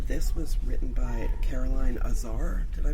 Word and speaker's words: Azar: And this was written by Caroline Azar. Did I pronounce that right? Yes. Azar?